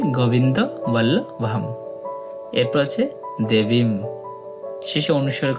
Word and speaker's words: গোবিন্দ বল্লভম: মন্ত্র প্রণব ওম এরপর গোবিন্দ বল্লভম একদম সঠিক বাংলা উচ্চারণের মত তবে শেষে অনুস্বর আছে যেটার সঠিক শুদ্ধ উচ্চারণ হবে অর্ধেক ম তাই হবে গোবিন্দ বল্লভম এরপর আছে দেবীম শেষে